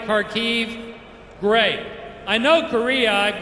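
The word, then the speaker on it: Kharkiv: that correct is it karkiv is the pronunciation right karkiv great i know korea i've got a bunch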